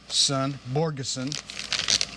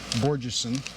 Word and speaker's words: Borgeson: Borgeson is how the gentleman on the voicemail system at the company pronounced it. I've been pronouncing it Borgeson, which is apparently incorrect.